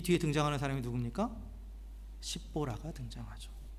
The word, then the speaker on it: 십보라: 십보라가 등장하죠.